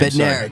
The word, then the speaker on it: Bednarik: Bednarik.